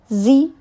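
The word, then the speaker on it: xī: Zi, pronounced like she, which connects the whole body.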